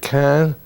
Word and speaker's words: Caen: And on the way to Cherbourg, we had to pass the city of Caen, if you pronounce it that way, C-A-E-N, and that is